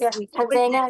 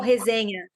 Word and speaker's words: resenha: Is that how you say it, Mika, in Portuguese? Hazena? Yeah, we call like when we do that after jiu-jitsu, you know, like everybody's talking, always something, we call resenha.